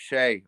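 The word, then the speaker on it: Skjei: yeah I can't say his name's pronounced Shay of all things Shay well [ __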